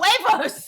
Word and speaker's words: huevos: Oh, huevos. Oh, huevos. It's spelled with an H. I know J is H. Yes, huevos.